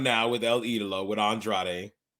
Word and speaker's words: Andrade: Andrade is how they say it. Andrade. There's an R there. Andrade. You got to roll the tongue.